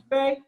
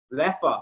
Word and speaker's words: Leffe: Lefe? My fiance lived in Belgium. How do you say it? Lefe? Leffe. Lefa, so we were both wrong.